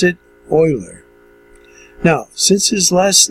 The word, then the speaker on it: Euler: more in the English Way the way to pronounce it oiler now since his last name began with an